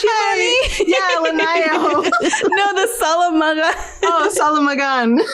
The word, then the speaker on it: Linayao: Yeah, Linayao.